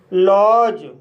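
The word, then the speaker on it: lodge: तो गाइस इसका रूल है जब किसी वर्ड में डी के बाद जी ई आए तब डी साइलेंट रहता है। जैसे एज बेज वज लॉज ब्रिज।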